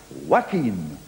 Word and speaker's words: Joaquin: celebrity coming on now who spells his first name joaquin but he wants it pronounced wackeen that's a tricky thing